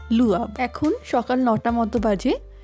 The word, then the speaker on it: Le Havre: যাব ফ্রান্সের একটি জায়গা যার ফ্রেঞ্চ উচ্চারণ লুয়া এখন সকাল নটা মতো